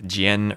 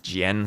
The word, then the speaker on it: Jian: Oh yeah, I was told Jian rhymes with pen. And I think I do still pronounce the I as part of another syllable, like not Jen, but Jian, so it's 2 syllables with the emphasis on the N.